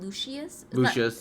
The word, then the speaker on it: Lucius: Lucius. It's not Lucious.